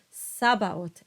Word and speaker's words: Sabaoth: Next is the letter H, and H is silent. So this word is pronounced Osana. And these words are pronounced Cherubim, Sabaoth, and Christe.